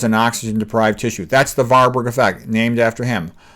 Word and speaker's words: Warburg: That's the Warburg effect, named after him. The W's are often pronounced like V's. The Warburg effect is cancer grows in oxygen-deprived tissue.